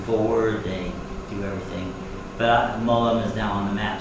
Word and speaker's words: Mo Lum: And for our general viewers, Molum is the Cantonese pronunciation of Wu Lin.